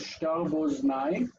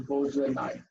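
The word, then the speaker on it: שתר בוזני: So I would read it technically as shtar boznai, like boz instead of bozenai.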